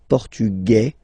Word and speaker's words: portugais: Masculine, portugais, you don't pronounce the S. Feminine form, portugaise, you pronounce this z sound, okay?